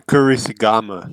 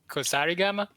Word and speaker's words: Kusarigama: That's a Kurisigama, Yes, that's but with two swords. I think you mean Kusarigama? Sorry, is it pronounced Kusarigama?